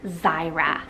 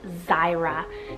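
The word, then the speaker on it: Xyra: and it's the name Zyra, spelled X-Y-R-A, Zyra. Now this one is so cool. I feel it's very easily pronounced, even with an X.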